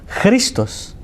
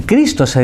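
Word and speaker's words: Χριστός: y como cristo o como se dice cristo en griego christos por eso se lo digo para que vayan escuchando cómo suena lo que habían recibido es crisma y cristo se dice cristos cristos con chile al final cristo es como cristo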